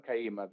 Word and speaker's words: Kayima: welcoming kaima is that i hope i'm pronouncing the name correctly your surname kaima that's the correct that was perfect sales professional